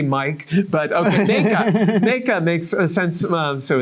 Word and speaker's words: Mijke: It's Meka. Meka. Meka is a feminine Dutch name. See, I did not know that. That's what it is. Yeah. So that's good. I say Mike, but okay, Meka.